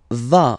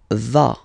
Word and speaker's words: vas: Tu vas. Final S doesn't exist. Tu vas.